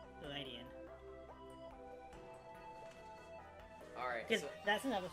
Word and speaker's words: Ledian: But because it's not, like, a steel type, calling it lead in doesn't really make sense. But it is a ladybug, so Ladian, with, like, a kind of soft E, you know?